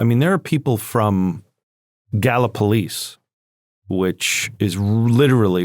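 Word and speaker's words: Gallipolis: I mean, there are people from Gala Police, which is literally right across the Ohio River. Look at you knowing how to pronounce it.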